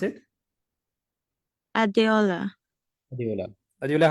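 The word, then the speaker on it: Adeola: e o l a so how do you pronounce it adola adola adola how are you I'm okay so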